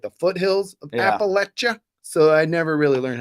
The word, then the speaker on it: Appalachia: like the foothills of Appalachia. So I never really learned how to say it right. Yeah, here it is now. Thank you, Matt. Yeah, Thank you. Parquet says it's pronounced Appalachia, not Appalachia. Appalachia.